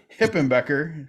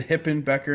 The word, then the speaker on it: Hipenbecker: Brookman I'm excited to be joined by Sherry hippen Becker who told me how to pronounce that correctly thank you keep the hippen Becker in there properly thank you call me Mrs